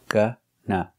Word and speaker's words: gonna: going to make it pronunciation of Gunna we use the short of sound like cup and up for both syllables g n GNA GNA GNA same sound both syllables a gunna you're going